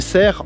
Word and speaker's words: cerf: and cerf if it's a male.